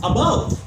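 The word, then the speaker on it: above: अबव ये right pronunciation है, अबव।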